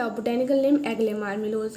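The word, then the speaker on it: marmelos: ठीक है, तो सबसे फर्स्ट है एग्ले मार्मिलोस, इसकी स्पेलिंग थोड़ी सी मिस्टेक हो गई है, इसकी है एग्ले मार्मिलोस। ओके, मार्मिलोस बोलते हैं।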